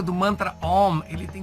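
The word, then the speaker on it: ॐ: O mantra também é composto de 3 sílabas, tá? Seria a sílaba A, sílaba U e a nasalização, que não chega a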